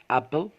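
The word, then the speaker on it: apple: عندنا كلمة أبل يعني تفاحة، أبل تفاحة.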